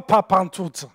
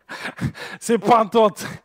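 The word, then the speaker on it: πάντοτε: mais pour les Québécois, ce n'est pas pantoute, c'est pantote.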